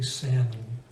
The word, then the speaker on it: salmon: a similar word but in English the L just we don't say it salmon so it's simply salmon there really aren't that